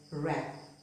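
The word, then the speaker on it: wrap: Here the word begins with WR. The W is silent. We pronounce it as rap. Not rap, but rap.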